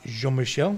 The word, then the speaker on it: Jean-Michel: back this year we're lucky to have uh jean michel yep on and he's a passionate guy about